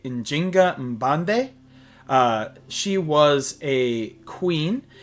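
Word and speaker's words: Njinga Mbande: Uh next we have ourselves um in English pronunciation queen Enzinga but in her native language it would be injinga mande.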